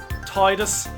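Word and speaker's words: Tidus: some people argue it's tedious some people argue it's Titus I am of the mind that it should be pronounced Titus a lot of people think that is wrong I am gonna try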